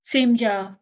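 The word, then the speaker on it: семья: जैसे हमारा थैला, नशा सुमका, n-a-s-h-a सुमका, जिसका अर्थ है हमारा थैला , सुमका, s-u-m-k-a, सेम्या, s-e-m-y-a, कोमल चिन्ह, सेम्या, क्योंकि यह ' या' में समाप्त होता है, यह स्त्रीलिंग भी है, जिसका अर्थ है 'यश्का छड़ी'।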